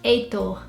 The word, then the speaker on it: Heitor: And in Portuguese, or Brazilians would say it Heitor. And here in the UK, I've never seen this name spelled like this.